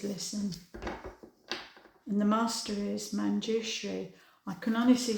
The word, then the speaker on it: Manjushri: So the message from Manjushri is pronounced Manjushri.